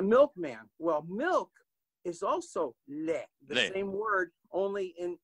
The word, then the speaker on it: lait: Well, milk is also lait, the Lait. same word, only in the ugly is spelled L-A-I-D, and milk is spelled L-A-I-T, but the pronunciation is still lait, and the Canadians in